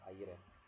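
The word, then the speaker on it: Ayire: i know his spell is a-y-i-r-e and he pronounces this as ayere and i always say that anytime he pronounces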